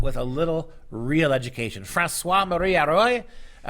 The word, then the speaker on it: François-Marie Arouet: François-Marie Arouet, I believe is how the French would pronounce it, 1694, born late in